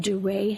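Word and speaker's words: Duret: They're called duray hemorrhages. How do you spell that? D U R E T with a little there's a little accent somewhere. Carrot over the E.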